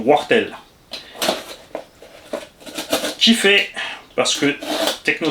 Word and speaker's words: Wartel: Papa W, j'ai pris tout simplement, donc ceux qui ne savent pas qui c'est Wartel, W-A-R-T-T-E-L, se prononce là-bas dans la région Wartel.